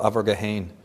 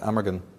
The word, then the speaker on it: Amergin: In Celtic tradition, one of the earliest poets of Ireland, the precursor to Merlin, was called Abergahain, or in English you pronounce it Amergin.